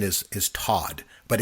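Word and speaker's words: Toht: actually pronunciation is is Todd, but it's but I always but I always call him Tot. I believe in German would be pronounced Todd, but I call him Tote.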